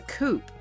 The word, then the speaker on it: coupe: Okay, like when a car is a two-door, it's a coupe. But I'm pretty sure you pronounce the P, but it's spelled C-O-U-P-E.